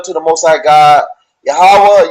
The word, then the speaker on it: Yahweh: the most high god yahweh yahweh that's how we pronounce the most high name in the pale hebrew that doesn't mean god